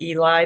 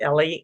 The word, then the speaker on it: Eli: um his name is in English would pronounce it Eli they said it Ellie Ellie sharabi um he